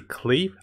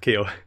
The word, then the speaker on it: Klee: we're looking at is we're gonna see cleve on the first planner yes i pronounce the right guys not kill so we're also gonna